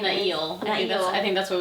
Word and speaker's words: Niall: And Niall, whatever his name Nail. is. I think that's what we... Okay, wait. That's what we're deciding that's how it's pronounced, is Nail.